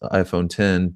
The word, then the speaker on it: iPhone X: he said so since the iPhone X is pronounced iPhone 10 does it does that mean that it's 10